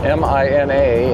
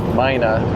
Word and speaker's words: Mina: And then the plan is to work our way to Mina, M I N A and I understand that the Nevadans pronounce it Mina rather than Mina.